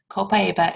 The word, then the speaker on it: Copaiba: You'll hear some people say it Copaiba. That's okay. That just means they're from another country than I am. So Copaiba or Copaiba, right?